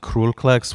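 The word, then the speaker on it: Król Kleks: band's called Kroll klex which is uh it's pronounced cruelplex which is just a PR it translates to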